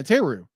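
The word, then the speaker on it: Therru: Thera? How do you pronounce her name? Teru? Yeah, Teru.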